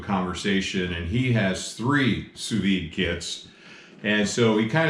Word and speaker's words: sous-vide: of our viewers commented we should try sous-vide and i i didn't even know how to say it i said tsubidi so you know i